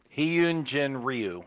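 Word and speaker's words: Hyun-jin Ryu: i'd looked it up it's pronounced he yoon i'm going to mess that up the second time i say it he yoon jin ryu yoon jen ryu absolutely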